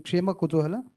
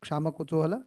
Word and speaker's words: Kshema Kutuhala: it is mentioned in Kshema Kutuhala, wrongly pronounced as Kshama Kutuhala.